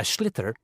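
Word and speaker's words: sliotar: this ball called a schlitter that's s-l-i-o-t-a-r so it's not spelled the way it's pronounced you hideous into the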